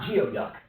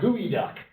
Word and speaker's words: geoduck: It is not geoduck. It is pronounced gooey duck.